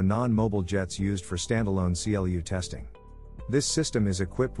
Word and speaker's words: CLU: commonly referred to as a clu pronounced clue which is the targeting